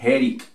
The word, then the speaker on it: headache: Vamos con esta otra, stomach, stomach, por eso se dice headache, porque la E al final, en este caso no suena, y esto suena como una C, ¿ok?